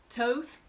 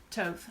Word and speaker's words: Thoth: really a mixed bag what I don't think I've ever heard anybody say is Thoth but then again who knows all right here's a common one Toth that's okay good well I appreciate that I that's what I use Toph I guess we're